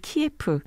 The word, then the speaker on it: 키예프: 소를 뜻하는 말입니다 그래 이게 러시아 씩 발음으로는 키에프 그리고 우크라이나 씩 발음으로는 클리오 라고 하네요 네 오늘 그 우크라이나